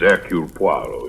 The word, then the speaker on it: Poirot: permitted the one slight correction my name is aru poo your good sister proceeds on the familiar English